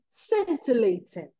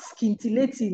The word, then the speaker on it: scintillating: The word is scintillating, not scintillating, my brothers and sisters.